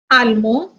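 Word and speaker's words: allemand: American, American, Danois, Danoise, Mexican, Mexican, Pakistani, Pakistanis, Almo, almond. Here we are not pronouncing D. As I told you, words ending with S, G and T are silent in masculine, but it sounds in feminine.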